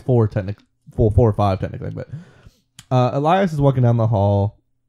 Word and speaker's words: Elias: He comes across Eli, and I keep want to call him Elias because the way they spell it, but John meets up with Eli.